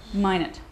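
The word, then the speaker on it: Minot: going with - okay I'm going with - mine it see I never I never know how to pronounce that okay that's just excellent I've learned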